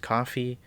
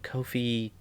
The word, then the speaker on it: Ko-fi: And I know that thing's probably supposed to be pronounced coffee, but Ko-fi, I don't know, it sounds better.